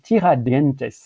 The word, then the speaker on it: Tiradentes: paraît que donc Avenidas, si j'essaie de le lire, là serait trop espagnol, mais il faudrait prononcer Avenidas et Tiradentes pour ici littéralement l'avenue du